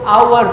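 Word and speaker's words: hour: लगा देते हैं तो आवर में एक ही साइलेंस इसको आवर पड़ते हैं इसलिए हमने एक पैन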